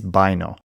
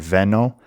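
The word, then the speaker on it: βαίνω: In modern Greek we have the same word veno, but in ancient Greek they pronounce it with a hard B and the I sound, baino.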